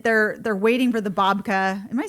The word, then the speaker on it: babka: years, and then they're waiting waiting for the babka.